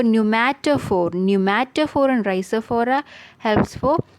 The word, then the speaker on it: pneumatophore: Even though the spelling is different, pronunciation is the same. New for pneumatophore.